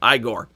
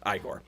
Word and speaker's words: Igor: in the original book in the original story of Frankenstein it is pronounced Igor but in Young Frankenstein it is pronounced igore so there we go